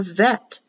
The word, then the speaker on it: Vet: The second letter in the Hebrew alphabet is for bet, if you have a dot, or vet, pronounced as a vet, V in Victoria, if there is no dot.